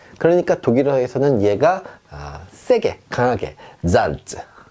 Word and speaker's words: Salz: 자, 어떻게 발음하냐면 쌍지읒 발음이 납니다. 우리말로 약간 세게 찌 소리가 난다. 그래서요, 소금이란 뜻이죠. 잘즈 이렇게 해주시면 되겠어요.